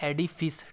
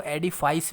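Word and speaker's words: edifice: इसका जो correct pronunciation है वो है एडिफिस। ठीक है, और कुछ लोग इसको एडिफाइस भी बोलते हैं।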